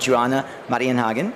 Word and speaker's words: Joanna Marienhagen: Nan Pimentel is the Vice President of Home Solutions for SMA America, and Joanna Marienhagen is the Vice President of Home Segment, SMA Solar Technology.